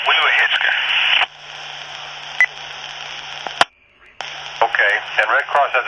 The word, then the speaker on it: Weewahitchka: You're on Weewahitchka. Okay, yeah, I was saying it wrong. Weewahitchka.